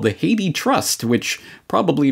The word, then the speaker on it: Hathi: something known as the Haiti Trust. It looks like Hathi Trust, but they say it's pronounced Haiti, much like the country.